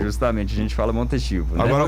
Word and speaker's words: Montechivo: No caso, no espanhol seria Montetivo, né? Certo, pelo espanhol Montetivo. Isso. Aí no Brasil a gente já dá aquela brasileirada e fica Montechivo. Justamente, a gente fala Montetivo, né?